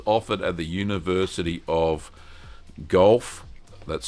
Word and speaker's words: Guelph: Patricia's mentioned that Guelph is pronounced Guelph.